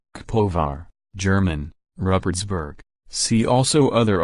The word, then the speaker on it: Kaposvár: Kaposvár, Hungarian pronunciation, Kaposvár, German, Rupertsberg, see also other alternative names, is a city in the southwestern part of Hungary, south from the Lake Balaton.